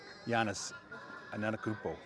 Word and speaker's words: Giannis Antetokounmpo: He's our very own Giannis Antetokounmpo.